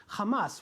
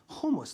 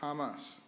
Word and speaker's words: Hamas: at that Coalition was how he pronounced Hamas which sounded a lot more like humus to most of the crowd here's my favorite vine